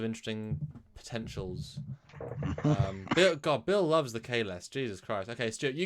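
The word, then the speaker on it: Kahless: Bill loves the Kalesh. Jesus Christ. Okay, Stuart, you give me your best Kalesh. Kalesh! In the name of Kalesh!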